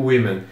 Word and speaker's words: women: então aqui se pronuncia woman e aqui se pronuncia o women não me perguntem o porquê mas é assim